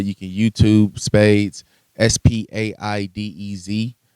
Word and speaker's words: Spaidez: You can YouTube Spaidez, Spaidez. It's, you know, it sounds like the card game, but you spell it like that because it makes it personal and unique to me.